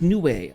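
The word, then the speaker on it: Nue: New pronounced new.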